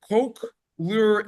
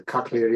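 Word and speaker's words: cochlear: in English called I don't know if I'm pronouncing this properly but a coke lure implant. C O C H L E A R implant. What's it called? I have a nephew that has a cocklear implant.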